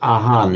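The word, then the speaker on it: อาหาร: They pronounce it aan in in Thai, but it's the same it's the same word.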